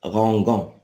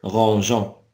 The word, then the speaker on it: rangeant: après G, tout simplement pour ne pas dire rangan, parce que G avec E se prononce go. Et donc, on a ajouté le E pour prononcer rangeant.